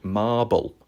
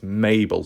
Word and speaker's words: Mabel: Okay, so I got the name wrong last time. I thought she was called Marble. I thought she lost her marbles, but no, it's Mabel.